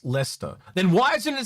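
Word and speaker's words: Leicester: It just said it's pronounced Lester.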